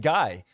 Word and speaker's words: Guy: I will admit, but but in French it's like way more normal. It's way more normal when you say like gee, you know, his name was G.